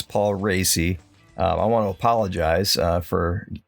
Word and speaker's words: Paul Raci: Yes, that is how you pronounce his name. It's Paul Raci.